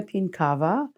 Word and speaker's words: Pienkawa: spell it uh my name is pinkava and it's spelled first name r e n a t